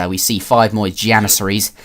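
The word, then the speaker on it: Janissaries: see five more janises I was calling them yanies in my previous commentary because uh you know in some languages the J is pronounced as a y but not I don't think you do that for janit never mind a little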